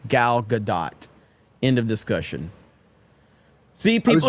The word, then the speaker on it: Gal Gadot: It's Gal Gadot. End of discussion. See, people are saying no, you pronounced the T. Pronounced it. So some people are saying that you do pronounce the T in her name.